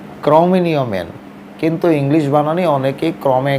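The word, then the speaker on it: Cro-Magnon: বিজ্ঞানীরা তাদের ক্রমমেনিয় ক্রমেও ইংরেজিতে অনেকেই ভুল করে উচ্চারণ করেন ক্রমেগণন ম্যান ক্রমেগণন ইংলিশ বানানে লেখা হলেও যেহেতু জায়গাটার ফ্রান্সে আবার যেই ফ্রান্সের ক্রমেয় ফ্রান্সের ক্রমে কমেনিয় শহরে এই কঙ্কাল পাওয়া গেছিল বলে ফ্রান্স ফ্রান্স উচ্চারণ রীতি অনুসারে ক্রমেও মেন কিন্তু ইংলিশ বানানী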